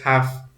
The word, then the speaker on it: have to: effect on preceding one as in pronouncing the word have in have to is just half we don't mention the